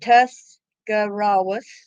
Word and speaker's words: Tuscarawas: But it does pronounce like tus c raw us.